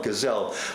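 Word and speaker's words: Gesell: spelled s-i-l-v-i-o Silvio gazelle g-e-s-e-l-l gazelle like G cell uh and very interesting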